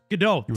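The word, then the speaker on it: Godot: GDO.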